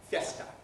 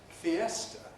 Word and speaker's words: fiesta: and siesta from spanish in spanish they're pronounced as two syllables each fiesta siesta in english they're pronounced as three syllables fiesta fiesta siesta why because the e is a strong vowel it has the stress and we can't compress before a strong bowel the spanish city of